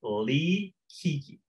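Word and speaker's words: Li Qiqi: And so if you guys are on Facebook, write down the name Lee Kiki. And so it's spelled L-I and then a space, then Q-I-Q-I.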